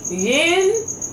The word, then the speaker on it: yin: But every time I try to flip it around and say yin, then I can't say yang.